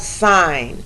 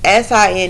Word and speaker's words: sine: sign okay it's spelled s i n e but the way you pronounce it is you pronounce it like the word sign like a stop sign okay it's not sin but sign okay um the next